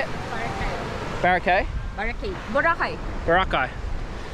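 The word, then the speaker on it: Boracay: Barakai.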